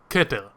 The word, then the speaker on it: Keter: The word that is on screen right now is pronounced like this, keter.